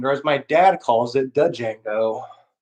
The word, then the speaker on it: Django: my dad calls it django the d is silent uh like if kill